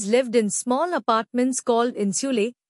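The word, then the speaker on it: insulae: in small apartments called इंसुले pronounced इंसुले main were long white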